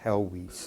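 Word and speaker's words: Helwys: of uh um Thomas hwis this name is pronounced helis if you're looking for pronunciation but Smith and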